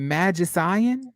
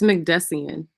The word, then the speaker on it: McDessian: that time defense attorney is it magician it's mcdessian mcdessian thank you I have been